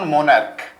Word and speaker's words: monarch: তার কারণ এখানে উচ্চারণের একটা তারতম্য আছে। উচ্চারণের তারতম্য কি? সিএইচ যখন চ হবে তখন হবে ইএস, আর সিএইচ যখন ক এর মতো উচ্চারণ হবে তখন হবে শুধু এস।